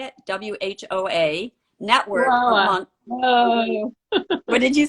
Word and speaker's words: Whoa: in wow is that how you say it w-h-o-a network what did you say whoa whoa network